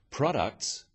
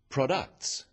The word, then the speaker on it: products: In words, one syllable is stressed. The wrong stress makes it hard to understand. So, conclusion, not conclusion. Products, not products.